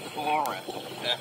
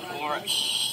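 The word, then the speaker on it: ctenophora: And we also get foam jellies here, which are called phora, with a silent C at the start. So phora.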